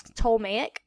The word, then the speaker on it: Ptolemaic: have What's called the ptolemaic system the p is silent so it's tolmacic and that is a